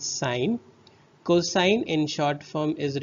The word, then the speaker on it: sine: is written as only s i n and it is pronunciated as a sign not sin so it is sine cosine in short form